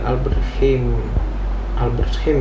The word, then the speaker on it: Albert Heijn: Kalau di Amsterdam kita belanja di Albert Heijn ya bacanya itu.